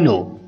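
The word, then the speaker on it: know: मुझे पता है, आई नो, आई नो। यहाँ पे हम के साइलेंट करेंगे, इसको हम आई नो पढ़ेंगे।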